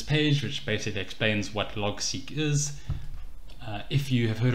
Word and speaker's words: Logseq: get to this page which basically explains what log seek is if you have heard of rome research